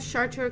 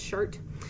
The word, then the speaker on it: Chartres: Next up, we have Chartres Cathedral, apparently pronounced Chart.